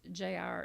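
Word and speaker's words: Jair: In excuse me in English it's Jire. In Hebrew it's Y. The J is pronounced with a Y.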